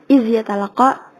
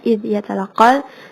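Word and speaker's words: إِذْ يَتَلَقَّى: Terus ayat 17 id yatalaqa, tadi kalau nggak salah gue dengarnya iz yatalaqa, padahal harusnya id yatalaqal.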